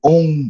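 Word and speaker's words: ॐ: com a gente, né, Curiati, que é o OM vibrante.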